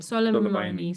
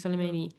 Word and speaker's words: Soleimani: of well, how do you pronounce his name? Soleimani. Soleimani, on the 3rd of January.